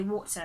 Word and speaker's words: water: R is pronounced, but for Brits we just say water, so it ends with a schwa.